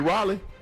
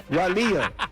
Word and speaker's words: Raleigh: You mean Raleigh? Raleia.